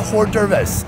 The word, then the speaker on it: hors d'oeuvres: Like a hors d'oeuvres. Hors d'oeuvres. Is it singular? There is an S, but the S is silent.